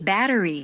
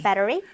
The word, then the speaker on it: battery: allergy, allergy, battery, battery, cholesterol, cholesterol. 이게 조금 어렵죠? 레에 강세가 있어요. cholesterol 이렇게 발음이 됩니다.